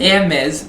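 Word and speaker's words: Hermès: every hermes bag thank you for your great pronunciation ermez bag is either boring or ugly i think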